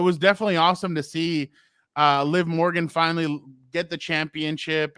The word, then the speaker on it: Liv: and this one will Liv Morgan. I'm saying it right, not live.